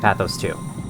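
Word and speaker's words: Pathos-II: every single area of pathos 2. they pronounce it pathos 2 in game but I think the real pronunciation of pathos is pathos so that's what I'm going with fish up there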